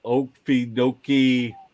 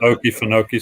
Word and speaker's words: Okefenokee: y'all been to the okidoki swamp in southeast georgia go ahead and say it larry you butchered it okay it's called okefenokee swamp i've heard of it